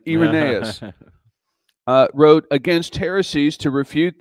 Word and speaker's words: Irenaeus: Number one, in AD 180, Irenaeus, I had to look up how to pronounce his name, Irenaeus, wrote against heresies to refute the errors of Gnosticism, which posed a great threat to the church at the time.